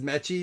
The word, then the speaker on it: Mechie: Oh, this is Mechie, not Michi, John Mechie.